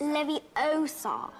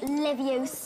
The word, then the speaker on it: Leviosa: you're saying it wrong it's Leviosa not Livius are you doing then